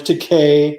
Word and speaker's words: Takei: nichols uh william shatner george takei that rhymes with gay and uh learning well